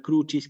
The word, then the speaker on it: crucis: crucis sí fíjense nuevamente en la palabra crucis que es bisilaba puse el acento en la u expresamente para recordar la